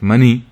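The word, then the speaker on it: MANI: application is money moni so it is pronounced as money mobile added note identifier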